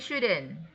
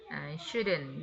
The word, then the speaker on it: shouldn't: Shouldn't ya. Bukan should. L-nya itu nggak ada. Nggak dipakai.